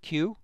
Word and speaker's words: Kew: The Royal Botanic Gardens at Kew in England. Q is spelled K-E-W.